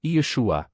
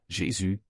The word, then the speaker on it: Yeshua: Le nom authentique est Yeshua, prononcé Yeshua, avec 3 syllabes. Ce n'est pas Jésus, c'est Yeshua. Il existe également une version